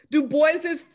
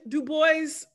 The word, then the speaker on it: Du Bois: new bedford mass um pronounced his name as far as i know du bois and he was the